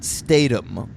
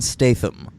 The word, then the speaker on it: Statham: we're not really giv why are you pronouncing it Statum um because I don't know exactly how he does it if it's Stam I would assume it's just Jason Statham so you're doing the th as a th yes